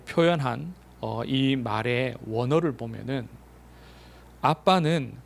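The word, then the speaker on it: אבא: 어이 말의 원어를 보면은 아빠는 발음도 똑같아요 아빠예요 아람어 발음인데 똑같이 아빠라고 해요 아빠 우리는 아빠라고 하지만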